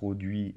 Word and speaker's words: les: đứng trước các từ, được phát âm = LES ở đây ''E" và "S kết hợp để tạo thành âm [e] và chúng ta ko phát âm chữ "S" ở cuối thế nhưng nếu tôi